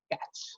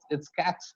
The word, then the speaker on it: catch: The letter T is always silent when it comes before CH, like catch. It's catch, sketch, stitch, and watch, and which.